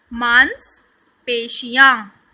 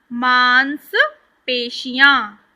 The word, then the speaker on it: मांसपेशियाँ: पहला शब्द मेरे साथ पढ़िए, मांसपेशियाँ। श को अच्छे से प्रोनाउंस करना है, स नहीं बोलना है। क्या बोलना है? श। मांसपेशियाँ, मांसपेशियाँ, ठीक है।